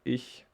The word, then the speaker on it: ich: just answer with ichikomaoz so ich this is very tricky we had it before i didn't mention it well this is some something really special in german we have the c and the h which is pronounced like and well okay i can